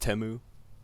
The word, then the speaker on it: Temu: And for anyone commenting it's pronounced Temu, hee hee.